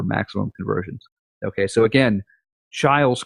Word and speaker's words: Chiles: call calm like Chile's nobody can pronounce my last name or my first name but it is child's so anyway I hope